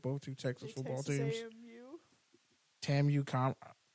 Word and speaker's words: TAMU: me for saying Tam TAMU it's Tam I don't say it like you don't sleep in front ofr you don't say TAMU I've been say close